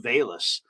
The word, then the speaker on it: Velus: on his feet uh it's spelled v-e-l-u-s his first name but it's pronounced bayless and you know it